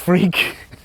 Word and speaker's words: Freke: My name really is pronounced Freke. It's an old West Country name.